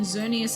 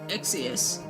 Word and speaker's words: Xerneas: And even then, I'm pretty sure I was saying Xerneas as Exius.